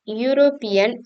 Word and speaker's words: European: sound your European country European is pronounced European starting with a voice sound not a Wubble sound another example where people